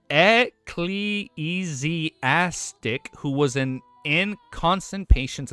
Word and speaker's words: ecclesiastic: It's pronounced ecleesastic who was an inconstant patient and half collapsing cathedral.